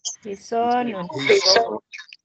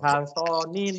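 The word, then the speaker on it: حصان: Ini bacanya apa? Hisonun. Lono. Ya. Jadi bukan halsonin atau apa.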